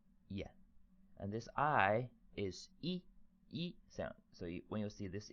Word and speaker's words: 一: take a nap that's it how do we pronounce it e this is the pronunciation this is an animation